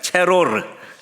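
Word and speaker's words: צרור: 두 번째 단어는 좀 어려운 단어인데 체로르. 따라해보세요. 체로르. 발음을 잘 하셔야 돼요.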